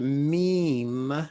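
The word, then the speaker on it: ميم: sources not just one when you pronounce the word meme the first m is given an elongated vowel e see me and then it ends on m but that second m has no expression there's no vowel attached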